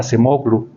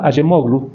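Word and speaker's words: Acemoğlu: Normalmente los docentes se refieren como Darum a Sememoglu, pero hay que preocuparse un poco por pronunciar correctamente el apellido de una persona. Entonces, Darom Ayemoglu, turco, es autor junto con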